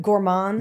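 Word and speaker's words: Gourmand: on the Bib Gourman award. And am I saying it right? Gourand. Yeah. Yeah, I believe that's right.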